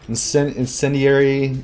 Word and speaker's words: incendiary: Incendiary shuriken. Yeah, that's right, incendiary.